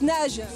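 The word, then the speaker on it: Naje: Donc Nage. Nage, la marque Nage, oui. Comment ça s'écrit?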